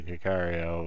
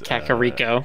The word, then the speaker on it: Kakariko: No, it's Kakariko. Kakariko. I always pronounce it Kikario when I was young, so whenever I see the word, it's the first pronunciation that comes to mind.